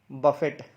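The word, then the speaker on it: buffet: ये वर्ड है, इसको बहुत लोग गलत प्रोनाउंस करते हैं। इसको बोलते हैं बफेट। क्या बोलते हैं? बफेट। तो इसको बफेट नहीं, इसकी सही प्रोनाउंसिएशन है बुफे। क्या है? बुफे।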